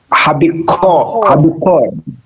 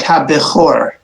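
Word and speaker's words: הבכור: Let's pronounce the first line then. Habikor. Right, ha-bechor.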